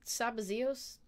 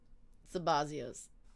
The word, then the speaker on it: Sabazios: um I do you guys recall this this sabazios person I do not somebody else thank you sabazias I did think I was saying it wrong